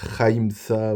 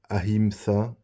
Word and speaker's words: Ahimsa: Il parle de Hagra au lieu de la ville d'Agra où il dit Haimsa au lieu de Ahimsa.